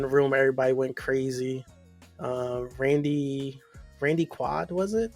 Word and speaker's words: Randy Quaid: Randy Quaid, was it? Randy Quaid. Randy Quaid. There we go. See, sometimes I mispronounce things, y'all.